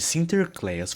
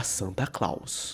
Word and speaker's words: Sinterklaas: Na Holanda, ele ficou conhecido como Sinterklaas, e quando imigrantes holandeses foram para a América, a pronúncia de Sinterklaas foi anglicizada para Santa Claus, nascendo assim o nome clássico pelo qual Papai Noel é conhecido.